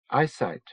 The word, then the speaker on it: Ipsit: Ipsit, pronounced eyesight.